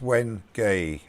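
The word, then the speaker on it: wenge: you mean Rob CP people argue on how to pronounce when I was when gay is it when gay it's when gay I'll write as it's an African would and that is how they say it but others say how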